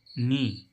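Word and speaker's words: knee: ई के ऐसे इसमें के एन डबल ई नी नीमांस नी मीस घुटना यहां पर भी डबल ई का उच्चारण बड़ी हो रहा है ठीक है अब इसमें आप कह रहे होंगे किनी क्यों नहीं आ रहा है क्योंकि गा यहां पर साइलेंट है इसलिए हमको के एन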